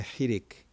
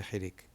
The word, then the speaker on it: חירק: And it's got an E sound. E. E. Like a short E sound. Not an E, but an E.